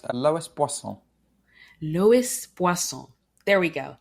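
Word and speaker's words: Loïs Boisson: I believe it's pronounced Lois Boisson.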